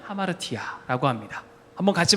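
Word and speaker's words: ἁμαρτία: 발음하자면 하마르티아라고 합니다. 한번 같이 발음해 볼까요? 시작. 하마르티아.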